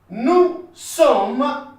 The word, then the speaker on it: nous sommes: Nous sommes. S is not pronounced.